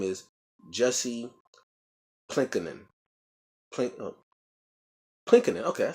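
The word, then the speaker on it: Pylkkänen: Plinkinen.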